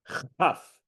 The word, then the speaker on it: Chaf: It's Ah. like half, Like in chaf.